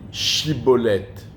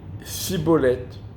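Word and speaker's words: schibboleth: une Voillaume roulau on lui disait dis chibolette et lui répondait cibolette pourquoi parce que les gens d'ffraahim n'arrivait pas à prononcer le Che il disait ce c'est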